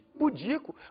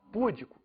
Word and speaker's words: pudico: poderiam falar por exemplo em vez de pudico poderiam falar pudico em vez de amar